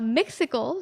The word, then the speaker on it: Mixicles: have you you are the founders of uh myxical did i say it right you did i